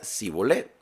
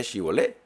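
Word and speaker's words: shibboleth: Y si ellos respondían, no, entonces les decían, ahora pues di shibolet. Y él decía sibolet. No decía shibolet.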